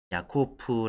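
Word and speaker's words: Jakob: 겁니다 구약 성경 고양에서 히브리어 에서는 야코프 라고 야곱을 발음 하구요 진학 께서는 이제 희랍어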